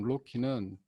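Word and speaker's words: RoCE: 장점도 제공해드리고 있습니다 그리고 로키 rose rama 오버 컴퍼스 이더넷이 라고 하는 발음으로는 저희가 로키 라고 하는데요 이 로키 라는 부분은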